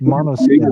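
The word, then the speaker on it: Måneskin: I like a band out of Italy called Names, and it's pronounced Monoskin.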